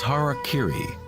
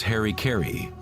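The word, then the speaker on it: hara-kiri: In the samurai tradition, one form of ritual suicide or sapuku was hariri was often mispronounced as Harry Kerry.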